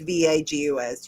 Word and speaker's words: vagus: I don't know how to pronounce it. It's vagus.